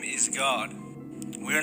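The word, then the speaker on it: Gad: g a d God the same way it's pronounced in Enoch with that little vowel point above the a now look at this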